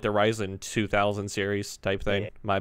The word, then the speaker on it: Ryzen: So Risen, or Ryzen as it's pronounced correctly, Taylor, it's not a new architecture per se.